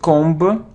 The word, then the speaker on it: comb: a ancient ancient so it isn't combo combo cone it's comb oh and without beef don't pronounce be comb comb it isn't